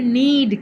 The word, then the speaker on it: knead: පිටි අනනවාට කියන්නේ need කියලා. අකුරෙන් කියන්නේ නී කියන්නේ නී යන්නයි අල්ඩා යන්නයි. ඒ වුණාට පළවෙනි අකුර තමයි K. KNEAD. Need. But K is not K is silent.